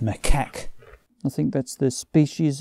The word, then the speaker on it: macaque: this image of like marquettes i think it was future me here it's pronounced macaque i think that's the